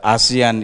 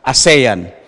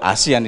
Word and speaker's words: ASEAN: or during conferences that asean is being pronounced by Filipinos even very high officials as a sayin you know I I